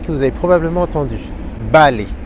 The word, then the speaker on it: vale: Balai. Balai. Vous voyez que je prononce comme un B, pourtant ça s'écrit avec un V.